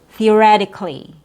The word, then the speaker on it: theoretically: But if we want to do the proper English pronunciation with re, your stressed syllable, theoretically, that's also, it will give you the proper word stress instead of theoretically, which is just a different pronunciation.